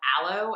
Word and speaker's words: Alo: by a brand called aloe i think it's how you pronounce it alo and it is the